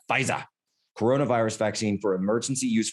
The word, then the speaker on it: Pfizer: After the federal government late Tuesday authorized Pfizer's coronavirus vaccine, you got to say Pfizer. You have to say it like that, Pfizer.